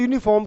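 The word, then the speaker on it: uniform: देखने में भले ही आपको यू नज़र आ रहा है, लेकिन जब इसको आप प्रोनाउंस करेंगे, बोलेंगे, तो ये की साउंड देगा, और ये कांट बी अ वावल।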